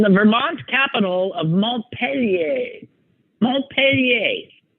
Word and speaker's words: Montpelier: in grade school is that's Mount Montpelier like a good American pronunciation not peelier Vermont and she kept saying